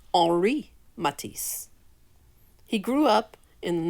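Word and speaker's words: Henri: many unique contributions to the world of art henry matisse was a french artist it's actually pronounced ori matisse he grew up in the northern part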